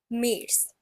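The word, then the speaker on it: März: then we have mes this a has an oml out on it it's pronounced as mes then we have April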